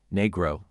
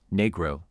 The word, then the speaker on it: Negro: Listen carefully, Negro, Negro, Negro, Negro. To recap, break the word into two parts, ʻniː and ɡroʊ. The correct pronunciation is NEE-gro. Emphasize the first syllable and maintain a clear, crisp second syllable.